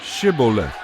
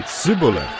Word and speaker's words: Shibboleth: they would tell him to say Shibboleth. If he was from Ephraim, he would say Sibboleth, because people from Ephraim cannot pronounce the word correctly.